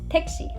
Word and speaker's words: 택시: Make sure you pronounce the she like the English word she. 택시.